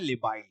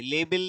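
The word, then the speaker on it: labile: तो लेबाइल है ये। लेबल या लेबाइल कुछ ऐसे मत पढ़ना। इसको लेबाइल पढ़ेंगे।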